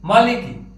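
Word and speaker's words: مالك: আমরা যদি এভাবে দেখি মিম মানে ম লাম মানে ল কাফ মানে ক এখানে রয়েছে আকার মা এখানে রয়েছে রসইকার লি এখানে রয়েছে রসইকার কি তাহলে উচ্চারণটা হচ্ছে মা লি কি আমাদেরকে এটা যদি আমাদের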